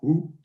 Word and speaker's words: WHO: The first one called WHO, that he pronounces Wu, and the second one about 2 months later.